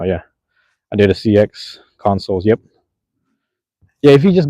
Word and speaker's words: Consoul: Wait, Cash Artist, have you ever listened to the Consoles? It's spelled Consoul. It's a band.